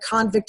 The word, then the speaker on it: convict: So I'm using visual, like actually the word convict and convict with the stress of the syllable, showing that difference, making it dramatic, teaching them the difference in the meaning can help.